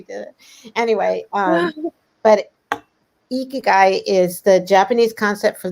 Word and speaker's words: ikigai: book you speak about ikigai am i saying that correctly you said it right oh wow okay yeah but i i yeah you caught it there the icky guy i had it wrong and someone shared it